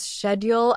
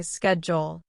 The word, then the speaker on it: schedule: You'll start noticing small differences like how British people might say schedule as schedule and Americans say schedule. Both are correct.